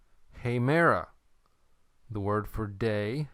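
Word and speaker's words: ἡμέρα: Okay, number 3, hemera. The word for day, hemera. Notice the way I pronounced it.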